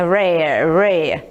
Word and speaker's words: rare: Aí a pronúncia é assim, esse R bem puxado. Todo R na língua inglesa ele tem esse som. Eu não falo não, é rare, tá bom?